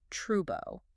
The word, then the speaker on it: trouble: So a word like trouble is pronounced as trubo. Oh, right.